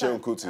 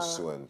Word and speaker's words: Seun: It's Seun Kuti, it's not Suen.